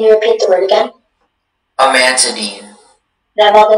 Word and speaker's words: amantadine: Your word is amantadine. Can you repeat the word again? Amantadine.